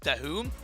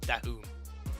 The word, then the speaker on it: Dahoum: It's pronounced Dahoum. Apparently. Our resident legend Sandstorm himself, who is casting the Arabic language, shout out to you, my friend. He cleared up for me and told me how it's pronounced.